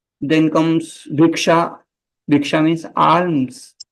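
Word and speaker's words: alms: comes भिक्षा भिक्षा means आर्म्स okay या आलम्स आर्म एल is silent L is silence आर्म्स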